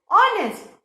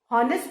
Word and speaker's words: honest: आर एंड HONEST इज ऑनेस्ट। हॉनेस्ट पढ़ोगे तो गलत हो जाएगा, हावर पढ़ोगे तो गलत हो जाएगा। सो रिमेंबर जब भी हम इनको प्रोनाउंस करते हैं तो इनका एच साइलेंट होता है, HOUR इज आर एंड HONEST इज ऑनेस्ट।